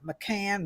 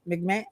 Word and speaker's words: McMahon: And so I kind of dug up that Linda McCann, I don't know how you say her last name. So she's McMahon. Oh, how you say it? McCann? Okay. McMahon.